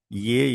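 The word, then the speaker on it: へ: Ye is pronounced as ye as in elephant. In elephant, how we pronounced e?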